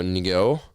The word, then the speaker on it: Ngo: I'm going to go Ngo. It's NGO. Can you... I want to say it's just no.